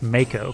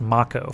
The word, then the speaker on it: Mako: So it's Mako because it's a shark. If it was Final Fantasy, it would be pronounced Macco for no reason.